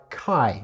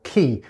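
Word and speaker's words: καί: they're going to be joined by Kai or key depending on your pronunciation method so the whole idea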